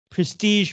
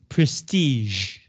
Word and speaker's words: prestige: want money and fame, prestige means to have a good name, 有名声. And it also comes from French, so notice how I pronounce the word, prestige. Not prestige, it's prestige.